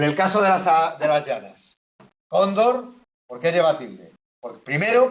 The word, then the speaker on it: cóndor: En el caso de las llanas, cóndor, ¿por qué lleva tilde? Primero, porque el golpe de voz cae en la penúltima.